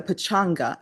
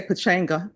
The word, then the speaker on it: pachanga: medal giveaway during the pachanga. Am I pronouncing that correctly? Yes. That's going to be terrible. I used to say pachena, but people said yeah.